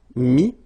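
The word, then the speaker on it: mis: Okay, then E-T-T-R-E will give you this I-S, but then you don't pronounce the S, so you get I. Mettre, mi, and then E-N-D-R-E, I-S, but then same thing here, the sound I.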